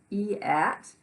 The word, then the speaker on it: eat: that make sense or e at yet no you just figure out that there's that a is not pronounced it's eat grass and berries would